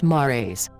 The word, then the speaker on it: mares: While the name means “seas” in Latin, the mares (pronounced “MAR-ays”) are solidified lava, the result of Moon volcanoes that flooded the surface in the past.